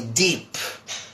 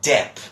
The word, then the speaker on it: Depp: here on the picture most people call him or know him as Johnny deep but this is not Johnny deep my friends that might be another person this is Johnny DEP DEP I'm EEP but Depp okay so that's Johnny Depp remember that and the spelling face obviously its de PP not d double EP as wise not deep it's Johnny Depp alright and finally my